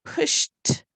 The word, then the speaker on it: pushed: I pushed myself. It sounds like a t, but it's spelled with a ed because it means in the past.